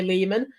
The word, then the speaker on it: Lehman: I did an interview with Ari Lehman, rhymes with Demon.